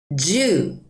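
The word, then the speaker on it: じゅう: 주 우하고 조금 길게 느려 빼 주시면 돼요.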